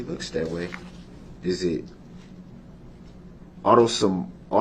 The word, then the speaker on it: autosomal: Is it autosomal?